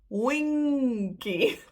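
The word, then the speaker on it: wingkie: So there's no D. You don't pronounce the G. You go for wing and then ki.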